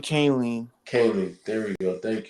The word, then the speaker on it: Kahnle: There's so much, Tommy Canley I don't know how to pronounce his Tommy name. Kahnle.